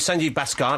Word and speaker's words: Sanjeev Bhaskar: a woring thought um we're here with Sanji bascar that's the corot pronunciation it is Jonathan Ross fantastic um